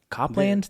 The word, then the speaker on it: Copeland: Copland.